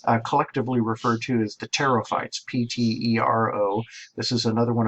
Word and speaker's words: pterophyte: It's pterophyte. Mimic saying a p, but don't do it, and then you've said the word right.